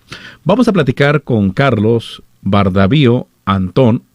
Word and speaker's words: Bardavío: Y efectivamente, lo has pronunciado bien, es Bardavío.